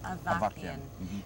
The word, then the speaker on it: Avakian: Was it George, pronounced Avakian, from Columbia Records?